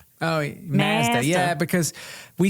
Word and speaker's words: Mazda: Um Mazda. Mazda. Oh, Mazda. Yeah, because we say taco like ma, you know, we pronounce our A's differently in colonial countries like Canada, Australia, and England.